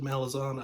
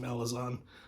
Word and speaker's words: Malazan: I have always pronounced it Malazan. I will always pronounce it Malazan. I know people want it pronounced Malazan, and I can't make my mouth do that. So Malazan it is.